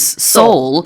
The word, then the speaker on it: sol: which is soul, but the plural form, I've just been informed, is soulless.